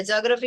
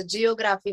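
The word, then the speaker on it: geography: जॉग्रफीचे spelling येते तसं जिओग्राफी म्हणतात.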